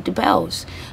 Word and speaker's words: Debelle: designer, and her clothing line is called Madame Debelle's, which is a change of pronunciation of her surname, Debelle.